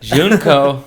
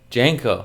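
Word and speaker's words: JNCO: Junko. Remember Junko? Janko. Yeah. Did I say it wrong? Yeah. Janko.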